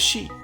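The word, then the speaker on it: 四: connotation in Japanese culture it can be pronounced as she which is also the word for death this number is a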